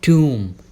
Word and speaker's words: tomb: मकबरे होते हैं ना, उसे बोला जाता है टूम। टूम। ध्यान देना एंड में जो बी है ना वो साइलेंट होगा।